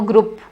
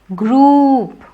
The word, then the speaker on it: group: group let's form a group of 10 people it's not group it is group although it is written as gr OUP but then it is pronounced as grew not group this is